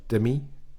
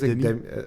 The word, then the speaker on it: Demi: Demi Moore Demi. I don't know how they say her name. She said no. She doesn't actually say Demi. I think it's Demi.